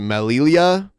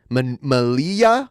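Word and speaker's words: Melilla: how to pronounce it Malia Malia it might be a because a double l in Spanish is usually a y sound Mal like tortilla yeah yeah interesting so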